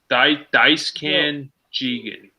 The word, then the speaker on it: Daisuke Jigen: Jerry, but for everyone out there, how's it pronounced? It's called. His name is Daisuke Jigen. Jigen. Daisuke Jigen.